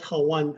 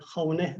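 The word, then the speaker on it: hooghan: So we live in hogans, which calls Hawan, Hawane. That's how you say it in Navajo.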